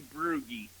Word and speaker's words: Brugge: I I will say Broo-gee. Very, very close. Very close. It's It's actually Broo-gee.